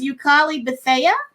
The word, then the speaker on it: Yukali Bethea: your name, I believe, was Yukali Bethea. Is that how you say it? Oh my gosh, yes.